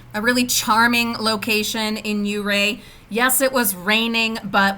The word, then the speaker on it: Ouray: gifted with beautiful uray a local told me that's how they say it is uray not uray in the